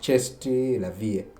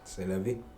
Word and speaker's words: c'est la vie: Because now you tell someone c'est la vie, it's really does cheste la vie, but it's not correct. C'est la vie.